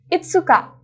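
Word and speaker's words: いつか: Tanggal 5, itsuka.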